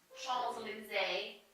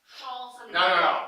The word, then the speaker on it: Champs-Élysées: Champs-Élysées.